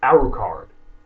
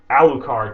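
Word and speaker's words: Alucard: they establish you know it's Dracula spelled backwards and it's the video I'm going to post here is Christen Freeman is answering this fan girl who insists that it's spelled and pronounced aruk card and he's trying to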